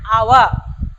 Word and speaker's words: hour: What is mute h? It is silent h. For example, an hour, an honorable man are the examples for indefinite article an.